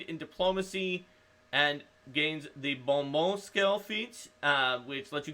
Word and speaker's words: bon mot: But I can at least pronounce bon mot. And not say, like, bon mot or something like that.